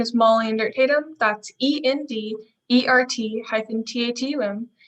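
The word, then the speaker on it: Endert-Tatum: your honor scoring attorneys my name is molly and dirt tatum that's e-n-d e-r-t hyphen t-a-t-um pronuncia tonight i'll be conducting the direct examination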